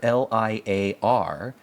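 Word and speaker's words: lyre: noticed it and that's that the word liar l i a r and the word word liar l y r e are identical in how they're pronounced now people don't talk about liars l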